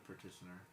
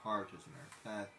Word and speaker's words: petitioner: The petitioner. I finally said that right. The petitioner. The petitioner. I kept on saying that wrong. Not partitioner. Petitioner.